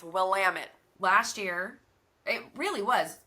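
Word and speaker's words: Willamette: which we learned when we were calling it will a met like idiots never well that's exactly what it looks like it's pronounced but then you get there and it's will lamit last year it really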